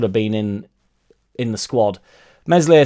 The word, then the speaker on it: Meslier: Meslier Silent S has had some rocky moments.